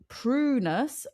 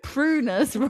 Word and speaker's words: Prunus: It said prunus rhymes with munus and salicina. Sa as in salad, e as in as in sit, c nah. And I just love that prunus rhymes with moonas.